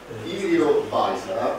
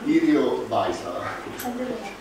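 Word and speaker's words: Yrjö Väisälä: Allora, questa persona, la cui pronuncia è Irio Baisara.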